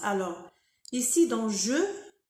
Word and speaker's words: je: Alors ici dans je, il faut respecter euh le son e je faut pas dire jo ou j.